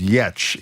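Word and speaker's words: Giertz: Her name is pronounced Yetch even though it's pronounced it's spelled G I E R T Z.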